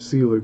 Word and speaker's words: Selig: William Nicholas Celig pronounced Celig was one of the most successful and colorful motion picture pioneers of the 1890s and early 1900s.